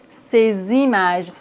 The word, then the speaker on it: ces images: La liaison entre un adjectif démonstratif et un nom, comme par exemple, ces images. Normalement, on ne prononce pas le S dans ces, mais ici, on doit faire la liaison.